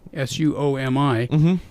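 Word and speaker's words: Suomi: of all saw me su OMI is the actual name of Finland Swami that's the Finnish version the national bird is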